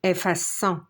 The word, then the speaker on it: effaçons: efface es il ou elle efface e nous effaçons on a mis la SIDI pour prononcer le son 100 F à 100 vous